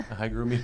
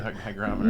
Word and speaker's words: hygrometer: us like hey what hi grooming here whatever no no it's a hygrometer no no I know